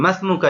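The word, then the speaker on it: ما اسمك: জিজ্ঞাসা করবেন অপরজন আরবিতে বলবে বিসমিল্লাহির রাহমানির রাহিম মাসমুকা ইয়া ওয়ালাদু অথবা মাসমুকা আইুহাল ওয়ালাদু হে ছেলে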